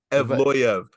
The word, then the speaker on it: Evloev: Evloev.